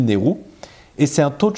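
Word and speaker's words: NAIRU: Ça s'écrit N-A-I-R-U, mais ça se dit NERU.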